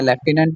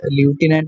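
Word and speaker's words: Lieutenant: next study, correct spellings आपने choose करने हैं लेफ्टिनेंट के, वैसे ही असल वर्ड ल्यूटिनेंट भी होता है, लेफ्टिनेंट भी बोलते हैं इसको, एल आई ई यू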